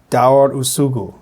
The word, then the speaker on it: Daur usugu: Daur Usugu. is the pronunciation.